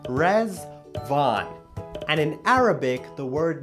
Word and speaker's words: Riḍván: to wish you a happy Festival of resval rezvan is pronounced res Von and in Arabic the word means Paradise the